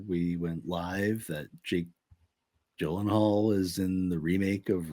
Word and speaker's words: Gyllenhaal: Yeah, apparently he was on a talk show like one time, and apparently it's pronounced like Gyllenhaal.